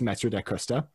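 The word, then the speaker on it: Mathieu da Costa: and his name was metzer de costa which is a the actual pronunciation of that varies depending on which language you're in but for our purposes here it's master de custa and he was a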